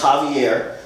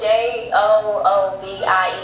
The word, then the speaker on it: Javier: You said my name's Javier. I'm black. Why you pronounce the J with a H? It's a J. So it's J-O-O-V-I-E-R.